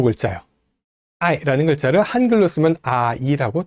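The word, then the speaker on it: 爱: I라는 글자를 한글로 쓰면 아이라고 두 글자로 쓰게 됩니다.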